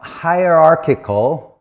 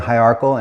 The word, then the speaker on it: hierarchical: Now, hierarchical, which is I I've been saying hierarchal and it's wrong. Hierarchical.